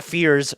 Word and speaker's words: Jeremiah Fears: Jeremiah Fierce. Oh, God. Yeah. Sorry about that. Jeremiah My apologies, Fierce, Mr. Fierce. Jeremiah Fears Mort's pronunciation of his name.